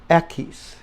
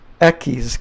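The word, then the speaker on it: equis: venti Ocho ekis ekis heck where are my keys you know I'm sorry but that's a eckies keep off the H I guess eckies this part right here keys that's how it sounds that's the X now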